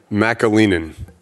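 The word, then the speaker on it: McAleenan: name how do you say your last name Macca Lehman okay Kevin yes all right Kevin is the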